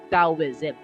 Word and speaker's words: Taoism: libro na Nabasa ko ang proper na pronunciation sa kanya ay daoism daw Okay da is it